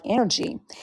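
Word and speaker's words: NRG: Fitness and Wellness but it's the letters NR G but it's pronounced like energy and I started that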